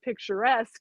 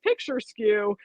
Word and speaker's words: picturesque: loud in class and got to the word picturesque and pronounced it picture skew and had this disagreeable